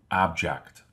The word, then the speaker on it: object: When the stress or accent is placed on the first syllable, the word object refers to a thing. That's an interesting object.